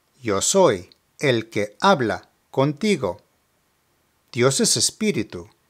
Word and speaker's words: contigo: Finally, contigo means with you and is pronounced contigo, contigo.